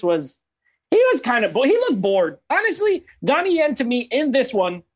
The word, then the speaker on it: Donnie Yen: Yeah, look, in terms of Donnie Yang, I hope I said it right? Donnie Yang? Donnie Yen. Finally, yep.